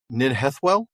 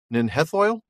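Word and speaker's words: Nen Hithoel: And I'm going to maybe mispronounce this, but you're going to help me on it. Ninhethwell? Nenhithoil.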